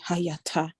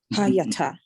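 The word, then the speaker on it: הָיְתָה: So this means pronounce it shorter. Instead of the ya, the long A, it's gonna now be a short A.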